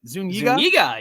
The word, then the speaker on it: Zuniga: Zuniga, yes.